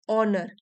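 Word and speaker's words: honour: टू ऑनर entitle to ऑनर H silent है इसमें वो व्यक्ति सम्मान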